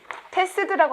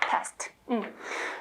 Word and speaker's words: passed: passed라고 안 하고요. 발음이 t로 바뀌어요. passed.